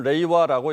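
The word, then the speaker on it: 令和: 한문 그대로 읽으면 영화, 일본 말로는 레이와라고 읽습니다.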